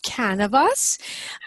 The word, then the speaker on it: Kanavos: now it's can of us and it rhymes with cannabis but it's over the